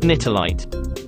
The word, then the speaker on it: Nitelite: Second, prodigium consumption makes people susceptible to mind control, a trait also found in an alien crystal called nightlight. It's pronounced nitolite.